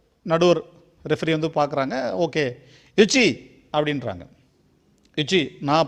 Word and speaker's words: yoshi: Okay, யுச்சி அப்படின்றாங்க. யுச்சி, நான் pronounce உங்களுக்கு புரியாத மாதிரி இருந்துச்சுனாலும் YOSHI, அது நீங்கள்